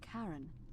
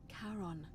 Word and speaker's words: Charon: It's just as you described it, only your pronunciation is a little off. The name you heard wasn't Karen. It was C-H-A-R-O. As in Charon, the ferryman of the dead. Charon, who in exchange for the right coin, helps